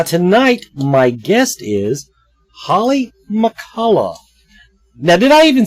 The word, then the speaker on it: McCullough: the show now tonight my guest is Holly McCullough now that I even say your last name